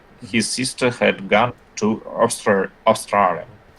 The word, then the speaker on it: Australia: His sister had gone to Australia. Только не Австралия, а Australia.